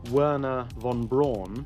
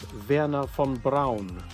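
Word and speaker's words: Wernher von Braun: pronunciation of his name most Americans call him wna Von Bron but his actual name in German is Verna Fon Brown and in fact he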